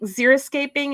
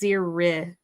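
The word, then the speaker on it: xeriscaping: Um, but zer with an I. A lot of people think zeroscaping is with an O, zero escaping, but it's zercaping.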